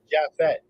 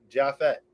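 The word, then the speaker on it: Japheth: Mr is it jaffet or how do I pronounce it jaffet jaffet jaff is silent yeah it's like a jaff it's uh the son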